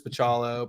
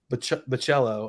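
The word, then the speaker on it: Bachalo: into Marvel Generation X Chris pachalo but oh yeah Chris the cello I think is the correct I've learned recently and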